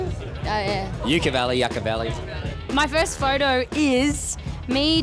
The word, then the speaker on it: Yucca Valley: Yucca Valley, Yucca Valley.